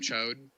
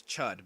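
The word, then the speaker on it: Chüd: It's ritual of chode. Is that what it spelled like? no, it's chud, but like chud is Oh.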